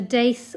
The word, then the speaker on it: daith: I'd wear this in a daith or doth, depending on how you pronounce it, or even in a septum piercing, actually.